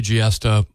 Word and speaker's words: Giesta: I know they've got, you know, they got Maria Giesta, rhymes with siesta, right?